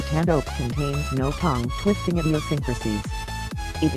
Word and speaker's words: Tanoak: Pacific region, and it is pronounced Tanoak, like the tree.